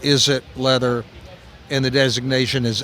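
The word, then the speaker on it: Izit: okay and they produce a product called is it leather that's spelled i-z-i-t but it's a play on words is it leather yeah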